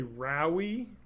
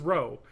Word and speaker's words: Rowe: Well, people mispronounce my name constantly. Rowe, they say Rowie. You just have to say it's like the Dirty Jobs guy. It's fine. Yeah, I know, right? It's just like, it's Rowe. Just the E is silent. Just say Rowe.